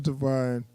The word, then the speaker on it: Devine: Loretta Devine.